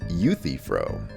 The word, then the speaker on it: Euthyphro: i don't i don't know uh youth froze pronounced euthyphro okay you see so savage excuse me you